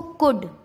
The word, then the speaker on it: could: डी से पहले, जैसे COULD, क्या इसको कोल्ड पढ़ेंगे? नहीं नहीं नहीं। तो डी से पहले एल आ रहा है तो इसका एल साइलेंट हो गया, तो क्या पढ़ेंगे इसको? कुड।